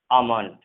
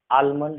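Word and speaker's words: almond: जैसे इसे हम पढ़ेंगे टॉक, ठीक है, वॉक, वुड, शुड, कुड, काफ, ठीक है, काफ, हाफ, पाम, बाम, काम, शाम, आमंड। यहाँ पर आलमंड नहीं पढ़ते, इसको आमंड पढ़ते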